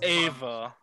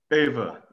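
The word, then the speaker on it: Aoibhe: It's one of those Scottish names that doesn't sound like it should.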